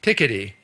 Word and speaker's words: Piketty: Have any of you heard of Thomas Piketty? I'm trying to pronounce it right. You've heard of him. But in America, we say Thomas Piketty. Okay. I discovered Frenchmen don't like that. It's Thomas Piketty.